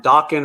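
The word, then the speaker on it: Dokken: Um, Meadow Sludge was running the headline Dawkins rhymes with talking.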